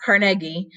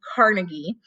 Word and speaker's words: Carnegie: So Andrew Carnegie, which is actually pronounced Carnegie, but more people commonly call him Carnegie, was actually an immigrant.